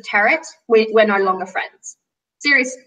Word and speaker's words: tarot: It's the pronunciation of the word tarot. It's not tarot. It's not. It's not tarot. Don't say tarot. Parrot. Tarot. Tarot. Tarot. Like parrot. Like parrot.